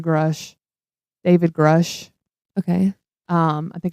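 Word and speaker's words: Grusch: as of late, David, I heard it's pronounced Grush, but I say Grush.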